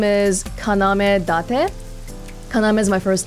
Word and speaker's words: Kaname: And I looked it up before this, but in Japanese, you can do this weird thing where your name is written one way, but it's pronounced differently. So my name is pronounced Kaname, but the way they